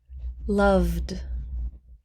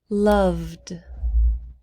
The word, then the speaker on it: loved: did the first one loved loved we do not pronounce the e loved waited waited wait ends